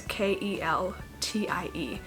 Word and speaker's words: Keltie: It reminds me of the word Celtic, but it's spelled with a K, so it's Keltie.